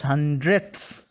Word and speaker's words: hundredths: actually of hundreds hundreds the pronunciation the pronunciation is very important thing it is hundredths huh and it is